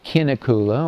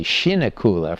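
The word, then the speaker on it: Kinnekulle: So this is a quarry at a place called Kinakula or Julie could probably pronounce it better because she's a Swedish major. I think they say shinakula for some reason. Local people do.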